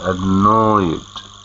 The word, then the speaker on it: annoyed: Okay, I'll be very annoyed if they work. Okay. If they don't reply to my letter. Very good. Listen to the pronunciation. Annoyed. Annoyed. Not annoyed with a T, but annoyed with a D.